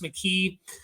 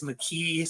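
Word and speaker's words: Makhi Hughes: I'm pretty sure it's pronounced McKee. I looked at the Tulane pronunciation guide and it said it as McKee.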